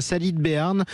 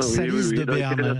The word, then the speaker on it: Salies-de-Béarn: êtes orticulteur horticulteur à salide de béarne c'est près d'orthèz est-ce que je le prononce bien salide de béarne salis de béarne ouitique Sal avec le S c'est ce qu'il fallait que je dise c'est ce que je